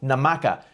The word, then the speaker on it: Namaka: In this episode, we're talking to Frank Merl, film director and producer of the 2025 film Namaka, a tiki thriller. Hope I got that pronunciation name correct for the for the movie.